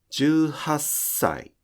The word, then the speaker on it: じゅうはっさい: For example, 「じゅうはっさい」: There is a 「さ」 after the small 「っ」. In that case, continue pronouncing the small 「っ」 as [s]. You should be hearing a constant sound like 「じゅうはっさい」.